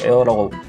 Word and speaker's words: Heir: 그래서 보시면 원래는 에어라고 적어야 되는데, 보시면 HEIR 해가지고 에어라고 나오는 발음이고, 원래 이 HIR 때는 후계자, 계승자 뭐 이런 뜻입니다. 후계자, 계승자 이런 뜻인데 발음은 또 에어라고 하거든요.